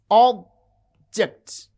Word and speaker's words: object: Consider a word like object. You can see object, object. The first syllable has prominence, it has extra force and full vowel quality. And ject, this is unstressed.